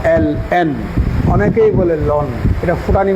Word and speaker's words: ln: আবার এটাকে লন পড়তে যাই না, এটার মুখ দিয়ে উচ্চারণ করতে হবে LN।